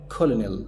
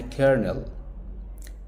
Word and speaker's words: colonel: قلتها كولونيل صح؟ لا، اسمها كيرنل. كيرنل.